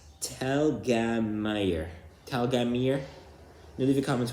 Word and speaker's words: Telgemeier: I think you don't need to put it in the comments because the correct pronunciation is Telgemeier.